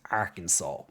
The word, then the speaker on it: Arkansas: that this is pronounced Arkansas literally it's arcanis it's arcanus like if if it was called Arkansas they should take off that s and put a [